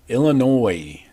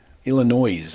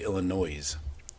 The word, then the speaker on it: Illinois: Number 21, USC going east to face number 23, Illinois. Illinois. I love it when people say Illinois. That S is silent, I think.